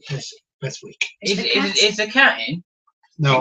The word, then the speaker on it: Beswick: Pronunciation is Beswick.